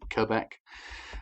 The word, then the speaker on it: Quebec: ones are normally a quebec is the harder one to pronounce don't forget you don't have to make the q sound because this is an international phrase it just has to be quebec um and one of the